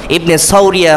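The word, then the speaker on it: ابن صوريا: ইবনে সাউরিয়া সৌরিয়া আরবিতে সদ দিয়ে উচ্চারণ। ইবনে সৌরিয়া কুতুবিনী একজন কাফের ব্যক্তি।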